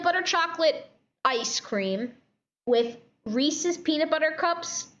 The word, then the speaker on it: Reese's: about what the flavor we're complaining about how you pronounce reese's we should probably carry it yeah reese's yeah not reese's actually yeah it's not reese's it's reese's yeah it's actually the dude on the advertisement even says reese's fine reese is peanut